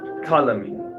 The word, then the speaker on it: Ptolemy: Ptolemy. Rome How it came- have a P and it says, the P is silent.